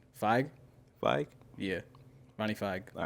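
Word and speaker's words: Fieg: Feig? Yeah. Ronnie Feig. All right, cool. People say Feig. Yeah, I was about to say, I always heard Feig, but I'm like, I don't really know. I've heard Feig, and I say Feig.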